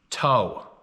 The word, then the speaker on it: Toe: And he replied, an audible "toe," pronounced like bow, of your boat, but starting with a T.